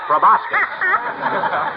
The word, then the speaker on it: proboscis: I'll touche him riding one right on his big fat proboscis. Proboscis means nose, doesn't it, Doctor? It's proboscis, my boy. The C is silent, like a husband in a millinery shop.